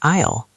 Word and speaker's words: aisle: The s is silent. We say isle.